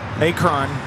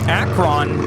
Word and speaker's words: Akron: that I certainly have that rhymes with apron now forget it Akron uh Akron it's accurate next time I'll just